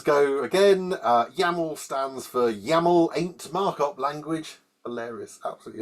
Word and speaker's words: YAML: The file extension is .yml, just to further confuse you, but they're actually YAML, YAML files. And here those comedians go again. YAML stands for YAML ain't markup language.